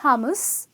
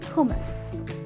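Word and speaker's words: hummus: get this one right it’s not hum mus it’s not hou-muse its hoomas ok and then we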